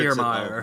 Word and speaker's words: Kiermaier: Kiermaier.